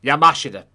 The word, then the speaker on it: Yamashita: Because apparently it's not the way I was pronouncing it before. The 32-day trial of General Tomoyuki Yamashita. Yamashita.